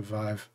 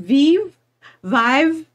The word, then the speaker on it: Vive: Well, I've heard Vive. And then some people get really confused and they'll go, wait, I thought Vive was spelled with a B. No. Because it's different. Vive. It's a different.